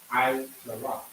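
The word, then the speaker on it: עשרה: Aishara. How many syllables? Aishara. 3 syllables. I, Sha, Ra.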